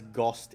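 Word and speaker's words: ГОСТ: I should say that's GOST in Cyrillic. Yeah. It reads to me R-O-C-T, but it's pronounced GOST.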